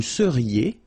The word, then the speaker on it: seriez: Vous seriez. So here when you've got this Z at the end, then you get the sound E.